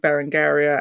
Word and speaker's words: Berengaria: think I go with bar andaria and that is how I believe the cypriots pronounce it which is where she